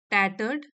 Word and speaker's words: tattered: इसका टाइटल है द टैटर्ड blanket. ये जो है इसमें आर साइलेंट है, ये वाला टैटर्ड ब्लैंकेट।